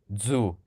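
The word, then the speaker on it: ձու: Zu. Zoo? It's like DZU. Zu. That sounds like a lot like the French. Des œufs. But we just say zu.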